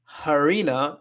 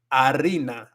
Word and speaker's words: harina: It's not harina. It's harina. Harina for flour.